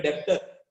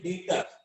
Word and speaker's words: debtor: को भी नहीं, मैं डेप्टर ये बी पढ़ता था, मगर आपको बी नहीं पढ़ना है। ओके, इसको बोलते हैं डेटर।